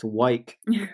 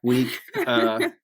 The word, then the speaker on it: Weick: Our last name is pronounced Weick, and everybody names it Wick, Whack, Week, anything you can possibly say under the sun besides Weick.